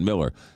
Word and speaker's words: Mueller: Looks like Mueller, but you pronounce it Miller.